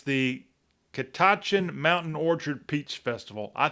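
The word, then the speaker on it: Catoctin: It's the Kitachin Mountain Orchard Peach Festival. I think I've got it right. Um, this I know the T in the back part of the word is silent, but it's a actually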